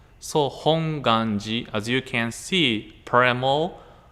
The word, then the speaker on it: Hongwanji: to hawaii people some people or muslim people pronounce this as hongwanji hongwanjia it's kind of true because you can see a w hong there are four people pronounce hongwanji but they're actually the pronunciations like hong ganji like without w hong ganji the reason why